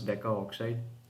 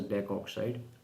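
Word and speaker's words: decoxide: Now, according to chemists, it's pretty awkward to pronounce deca oxide. They just find it convenient to remove the A and pronounce this as dec oxide.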